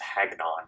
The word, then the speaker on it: Hagnon: about the four horsemen's mythic legions it gets Haggen on is how you pronounce it I just saw this a big